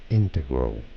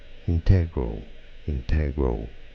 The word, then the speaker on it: integral: There just are two different ways of pronouncing it in English. Probably the most common that you found referenced in many dictionaries is integral, with a stress on the first syllable. Integral. Now it is also correct to say it as integral, with a stress on the second syllable. That works. All right. It is also correct. Integral. It's also correct. So they're both correct.